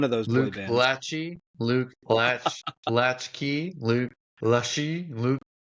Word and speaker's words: Lachey: I believe it's Lachey, like former boy band member Nick Lachey. It is spelled Lache. Exactly like Nick Lachey.